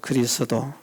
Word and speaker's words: 그리스도: 그리스도 이게 어려워요. 그래서 어떤 분들은 보면 말씀을 할 때에 그리도께서 뭐 이래 돼요. 그리도께서 그리도가 누구야? 그리스도. 그래서 도를 약간 늦게 발음한다고 생각하면 발음하기가 좋습니다. 그리스라는 나라가 있잖아요. 그리스도. 음. 그러면 바람이 쉽습니다.